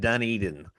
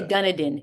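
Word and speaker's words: Dunedin: And it's pronounced Dun Eden. Duned Eden. Yes. Yes. People say Dunadan. It's Duneden.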